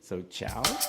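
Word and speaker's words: čau: usually look those up, it sounds like ciao, the Italian ciao, but it's spelled differently. So ciao.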